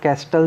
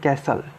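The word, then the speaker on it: castle: कैसल, इसको कैस्टल नहीं बोलेंगे, इसको बोलेंगे कैसल. टी साइलेंट रहेगा.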